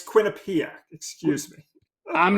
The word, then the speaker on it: Quinnipiac: I'm not trying to spell it. Well, Yes. I'm sorry. It's Quinnipiac.